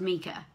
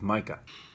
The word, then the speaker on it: Micah: or isn't Micha well Karen sent me 100 messages telling me how to pronounce Micah's name properly so I think the name we were looking for is Micah but I'm not sure if I quite believe that's the correct way so I thought I'd